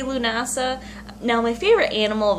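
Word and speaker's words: Lughnasadh: Alrighty, so we are going over llamas, which is L-A-M-M-A-S, also known as Lunasa or Lugnasad.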